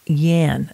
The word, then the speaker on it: YAN: and answer period and you're going to hear something called yan spelled y-a-n and that stands for